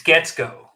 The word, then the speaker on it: Guetzkow: I hope I pronounced your name correctly that time. If not, please correct me. It's Guetzkow.